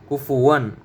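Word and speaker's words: كُفُوًا: ফা থেকে বাতাস বের হবে, মুখ থেকে বাতাস বের হবে ফার সময়, ফু, ফু, কুফু। ওয়া 2 জবর ওয়ান, কুফু ওয়ান। ওয়াওতে মুখ গোল হবে, ওয়া, ওয়া। কুফুয়ান কুফুয়ান।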